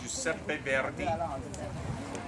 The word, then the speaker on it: Giuseppe Verdi: Giuseppe Verdi, that's how you say it in Italian, Giuseppe Verdi. In English, yes, Verdi, you have to roll your R.